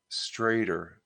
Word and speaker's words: Strider: Where the people that well, I don't want to say Chris Strider's last name pronounced Strader.